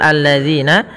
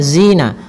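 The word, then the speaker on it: الَّذِينَ: lam syamsiyah pada lafal alladzina yang di mana lamnya harus tipis karena sifat lam itu tipisatadzina kemudian pada lafal zina hati-hati dalam melafalkan kan zalnya. Jangan sampai kita membacanya dengan zina.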